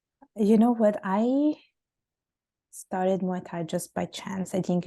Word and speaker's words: Muay Thai: conversation you mentioned that you have gotten into Mai Tai I think that's how you say it is that right yeah Muay Thai slush boxing oh interesting so how has that